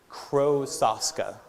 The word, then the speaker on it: Krosoczka: My last name is pronounced Krosoczka.